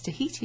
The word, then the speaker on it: Tahiti: Well, it's Tahiti, isn't it? So as-tu été à Tahiti? On ne prononce pas le H.